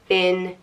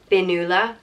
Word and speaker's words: Fionnuala: or fair shoulder, and it can be pronounced one of two ways, either Fionnuala, Fionnuala, or Fionnuala. Fionnuala. And again, that's just depending on where in Ireland you are.